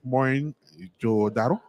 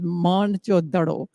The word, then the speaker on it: Mohenjo-daro: And Mohenjo-daro is actually a Sindhi word, which means mound of the dead. Actual pronunciation is Mohenjo-daro.